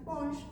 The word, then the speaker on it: Ponge: Y me gustaría empezar hablándoles sobre Francis Pongch. Se escribe Francis Ponge, por si alguien lo quiere escuchar.